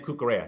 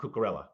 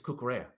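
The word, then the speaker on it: Cucurella: kukara pronounces his name kukara not karella right yeah so because the Double L is a y sound so you would say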